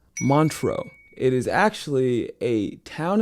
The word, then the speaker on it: Montreux: It is pronounced Montreux.